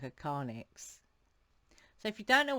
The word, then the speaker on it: carnyx: he was like whoa that sounds like a karnix so if you don't know what karnix is